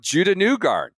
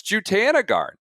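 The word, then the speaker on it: Jutanugarn: I remember year one, I went with Judah Newgarden. I that wasn't a good. I quickly learned it's Jutanagarn. Like, we've had a list of mispronunciations, and Andy's on zero sleep.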